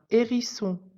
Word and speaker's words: hérisson: est la lettre H le H ne se prononce pas quand il est en début de mot exemple un hérisson le haricot la lettre